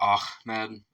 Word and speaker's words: Ahmed: The name of the song's subject is Ahmed, which is frequently mispronounced as Ahmed by Westerners, possibly due to the influence of comedian Jeff Dunham's, Jeff Dunham's puppet.